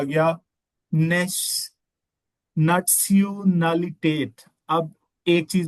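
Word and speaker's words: Nationalität: हवाले से बताऊं कि जब भी आपको जैसे इंग्लिश में हम टी आई को श बोल देते हैं नेशनल नेशनलिटेट जर्मन में आपने ने इसको सून बोलना है लाइक नटसलिटेट नटसिटेट या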